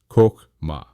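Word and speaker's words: חכמה: First, we encounter Chokhmah, pronounced Chokhmah.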